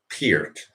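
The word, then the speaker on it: Peart: look i think in canada you're supposed to pronounce it uh neil pierce but neil pierce number one neil pierce uh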